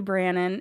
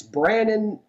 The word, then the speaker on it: Branon: messing up my name it's it's Brandon it's my middle name and when I tell everybody is yes you you heard that incorrectly it's actually branded with no D right rhymes with Shannon if that helps it's also my middle